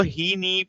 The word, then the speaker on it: HeNe: जो helium neon laser को हीनी भी प्रोनाउंस किया जाता है, जैसे आप यहाँ पे